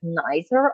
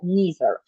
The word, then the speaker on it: neither: І оце наше neither або neither. Знову ж таки, і той, і інший варіант вимови буде правильний. Це та сама історія, що і з either.